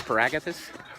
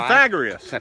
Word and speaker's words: Pythagoras: What's Paragathus? What is Paragathus? The guy who invented Oh, pi? Pythagoras.